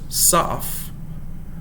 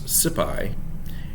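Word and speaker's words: Saph: goliath goliath the gettite there's saf or in some pronunciations sipi and then there's a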